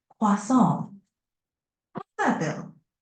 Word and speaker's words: croissant: Croissant. Pretty close. Try emphasizing the nasal sound at the end a bit more, like croissant. How's that feel? Croissant.